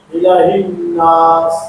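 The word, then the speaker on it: إِلَٰهِ النَّاسِ: ইলাহি নাস ইলাহি নাস ইলাহার মধ্যে খাটা জবর আছে এক আলিফ টানতে হবে ইলাহি নাস ইলাহি নাস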